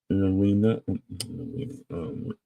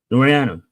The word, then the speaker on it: Laureano: So, and that is the Padres getting Ryan O'Hare and outfielder Ramon Arena. Ramon. I can't pronounce his name, but yeah, they acquired these two from the Orioles. Laureano, yeah, Ramon Laureano and Ryan O'Hara go to the Padres.